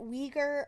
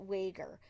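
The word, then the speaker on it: Weger: And some pronounce it Uyghur, others pronounce it Wager. So I'm going to go with Chester Wager on this one.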